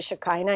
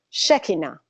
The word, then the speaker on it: Shekinah: Shekinah now I learned Shekinah some people say Shekinah in the United States but the correct pronunciation is Shekinah so I'm you know I learned that so